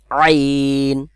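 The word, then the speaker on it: ع: ত ত আইন আইন আইনের আ গলার মধ্যখান থেকে উচ্চারণ হবে ঠিক আছে আইন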